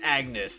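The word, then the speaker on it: Agnès: There are situations where it is pronounced Agnes, though, isn't it? So, I mean, like... I don't know. I don't know, man. That name gives me a fit, I swear. You can pronounce it both ways, can you not?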